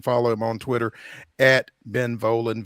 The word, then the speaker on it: Volin: him on Twitter Ben volan v i n um am I pronouncing that correct it's not ven or anything like that okay great I say it rhymes with stolen so you gotta write